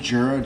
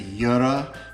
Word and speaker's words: Jura: coffee using the juror people say that I mispronounced Girard should be Yura or something like that but I don't really